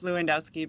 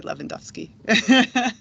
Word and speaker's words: Lewandowski: So I do pronounce it myself, Lewandowski, but I think probably the true Polish people would say Lewandowski.